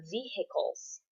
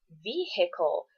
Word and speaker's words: vehicle: stop climbing on the vehicles. Now, vehicle is only the proper pronunciation if you are saying vehicular. If it is not vehicular, it's vehicle. The H is silent.